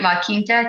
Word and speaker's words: La Quinta: La Quinta.